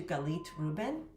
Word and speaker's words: Galit Reuben: So if we haven't met, nice to meet you, Galit, Reuben. That's me. That's how you pronounce my name.